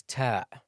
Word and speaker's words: ت: Ta is pronounced from the top part of the tongue when it hits the upper front incisors. Now be careful, ta is one of the hams letters. Don't pronounce it with the hams or the Wesleyan sound, like ta, tu, t. That's wrong.